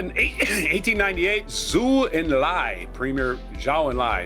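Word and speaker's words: Zhou Enlai: Uh 1898 Zu and Li premier Xiao and Lai that's how you pronounce his name.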